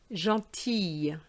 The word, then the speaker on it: gentille: The L is silent, but when it's feminine, you would say gentille, gentille.